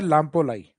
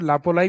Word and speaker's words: लामपोलाई: तो विलेज आता है लामपोलाई। कुछ जगह मैं को साइलेंट कर देते हैं, लापोलाई भी बोल देते हैं, बाकी सही नाम है लामपोलाई।